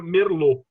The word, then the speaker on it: Merlot: Então, apesar da uva se escrever Merlot, a gente vai ler Merlot. A palavra em francês tem T sem vogal, depois o T é mudo.